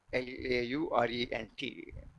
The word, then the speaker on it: Laurent: Laurent expansion. L-A-U-R-E-N-T. The last part you pronounce as wrong. Laurent.